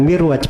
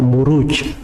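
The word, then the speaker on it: مروج: k dibaca mirwajahab ya kalauuju itu bukan mirwaj bacanya harusnya marwaj sebab bukunya kan setelahnya B aljauhar itu kalau di bahasa Arab gak dibaca mirwaj tapi dibaca muruj jamak dari marjun marajamuju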